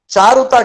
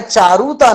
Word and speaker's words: चारुता: शुद्ध उच्चारण करना है चारुता कहने चार उठता नहीं करना है पर यह जो कहना